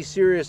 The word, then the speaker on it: Sirius: beside the tl ultralight sirius this is pronounced and it may be serious in name but it's a really